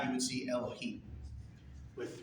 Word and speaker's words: Elohim: Well, it's pronounced Elohim.